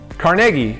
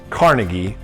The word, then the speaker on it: Carnegie: Carnegie, which is definitely not pronounced Carn-i-gee, is right off the